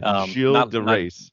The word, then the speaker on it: Gilles de Rais: But I looked up the French pronunciation of this character, and it's a soft G.